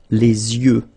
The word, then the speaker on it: les yeux: Okay, so l'œil, singular, and then the plural, Les yeux. Okay, you make this liaison between the two. Les yeux. Okay, final X not pronounced.